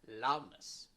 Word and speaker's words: loudness: so here loud stress loudness okay okay for example loudness so here loud is strong yes is weak so ness is not the stress because it is what